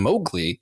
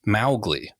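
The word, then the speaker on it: Mowgli: at the film specifically because they kept saying mowgly and it should be pronounced Malle so technically the correct pronunciation is not the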